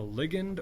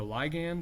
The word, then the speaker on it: ligand: Okay, that signal molecule is called a ligand or a ligand, however you choose to pronounce it. I've heard it both ways. I generally do ligand.